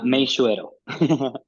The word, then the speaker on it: Meixueiro: Pronounce it. Meishuero. Meishuero.